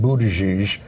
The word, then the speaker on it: Buttigieg: We have a correction from last week about Pete Buttigieg.